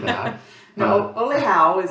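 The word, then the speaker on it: Olhão: We were pronouncing it Ohio or something like that. No, Oleao is how it's really pronounced in Portugal, in the Algarve near Faro.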